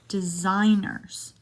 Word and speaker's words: designer: Another silent G in designers. Designer clothes.